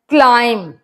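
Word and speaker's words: climb: ूम W silent है क्लाइम B silent है तो यह मैंने फाइव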